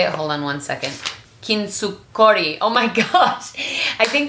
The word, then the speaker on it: kintsukuroi: And I think the reason why this whole katsuragi, is that how you say it? Hold on one second. Kintsukori.